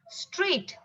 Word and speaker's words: straight: g h is silent straight g h is silent so in these words